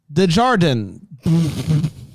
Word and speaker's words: Desjardins: It's not delivery. It's Desjardins.